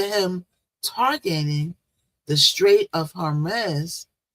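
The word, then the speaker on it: Hormuz: But in the midst of him targeting the straight of Hermes, harmless, H O R M U Z, how you pronounce that, y'all.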